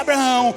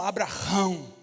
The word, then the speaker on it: Abraão: nome vai ser Abraão Abraão na pronúncia não é branco é mais ou menos assim É como ham sair do realmente fazendo esse esse esse som Abraão Oi e o nome